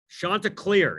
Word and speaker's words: Chanticleer: What if I told you that what do you call it, Chanticleer or whatever became a Pelican? Oh. Chanticleer, is that how you say it?